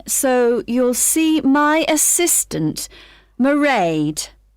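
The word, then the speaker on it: Mairead: It's M A I R E A D. Merade. Okay, got that. It's not a name I'm familiar with. Oh, it's an Irish name.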